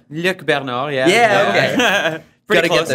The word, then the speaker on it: Luc Bernard: We're here with Luc Bernard. Is that the right pronunciation? Because English would say Luc Bernard, but Luc Bernard. Luc Bernard, yeah.